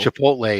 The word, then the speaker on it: Chipotle: however you say it Chipotle Chipotle is how it's pronounced but we say Chipotle chipot just to mess with people like I don't